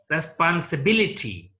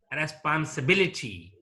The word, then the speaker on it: responsibility: called ante penultimate syllable certain words ending in C Y T yph ygy take the stress on the ante penultimate syllable in case of polysyllabic words for example democracy democracy democracy here stresses mark on the third syllable from the last one responsibility responsibility yeah